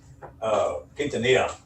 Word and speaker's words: Quintanilla: How do you pronounce that? It's Portuguese. It's Quintanilla. Quintanilla.